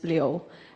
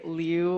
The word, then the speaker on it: Liu: And then my last name, the Chinese pronunciation is Liu. And like, but most people say Liu or Lu. I think Lu is kind of cute, like, but Liu is also good.